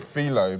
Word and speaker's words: filo: do you pronounce it I call it filo but philo's also 100 acceptable um tomato tomato you